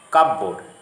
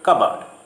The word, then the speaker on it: cupboard: The P should not be pronounced. It is receipt. Again, people say cupboard. No, it is simply cupboard.